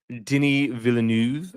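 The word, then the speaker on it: Denis Villeneuve: know, we have uh Denny Villanuv, I guess, is how you're supposed to pronounce his name, but I love him, you know, phenomenal director, obviously, most recently of the Dune movies.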